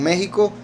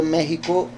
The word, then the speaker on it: México: Egipto si es que la x en realidad se pronuncia como j o sea en español La x como México Exacto igual que sucede con México verdad que como he